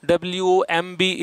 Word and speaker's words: womb: W-O-M-B is womb. So just correct your pronunciation if you have been pronouncing it wrong.